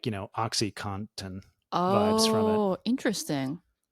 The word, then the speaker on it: OxyContin: Well, it's just because like OxyContin has an N in it that's like almost silent in most people's pronunciation. Like I thought for a long time it was OxyContin with like literally COTTON, and then saw it spelled and was like, wait, it's contin.